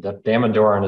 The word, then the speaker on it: Damodaran: Damodaran is what I say, that's how you say his name.